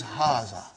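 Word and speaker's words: هذا: erase it ha see it is pronounced like ha huh but this Al if is not written huh it is explained in the key also so it is haah okay haa means this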